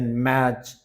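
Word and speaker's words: match: टी जहां silent रहेगा जार फसन listen मैच वच यहां पर टी देख रहे हैं आप साइलेंट है ठीक है तो ये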